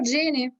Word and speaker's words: Seni: Si pronuncia Jenny? Maloku Jenny? Sì.